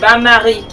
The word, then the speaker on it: bain-marie: Bain-marie. Bain-marie. B-A-N is for bath, but it's pronounced...